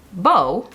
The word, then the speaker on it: Beau: slip liner from Jaclyn it is called Beau b-o-w not like my cat Bow b-e-a-u but pronounced the same let's draw the Cupid's